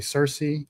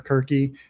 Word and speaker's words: Circe: They got a white woman to play Circe or Kirke, depending on which language you're pronouncing in.